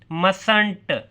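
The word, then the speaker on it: mustn't: डिड not didn't didn't मस्ट नॉट मसंट मसंट टी नहीं पढ़ना आपने प्रोनाउंस करना मसंट व नॉट वरंट वरंट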